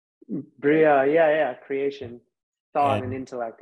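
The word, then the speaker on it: Beriah: And you have Beria, the subtle body. Correct? Correct pronunciation? Bria, yeah, creation, thought and intellect, yes.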